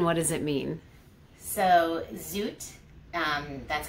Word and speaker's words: Zoet: your company and what does it mean so zoot that's how it's pronounced it means sweet gentle and soft and